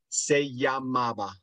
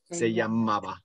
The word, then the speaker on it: se llamaba: Yeah, how do you pronounce, like, was called, I can't say the last word. Se llamaba. Okay. Se llamaba.